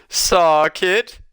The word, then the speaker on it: Sarkid: Can I give you a correction on your name pronunciations? It's Sarkid.